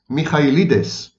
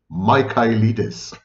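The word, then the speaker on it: Michaelides: patient the author is Alex Mikes or in the wrong American pronunciation Alex mides as I was reading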